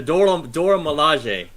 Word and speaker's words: Milaje: Dora Milaje. Not lingerie.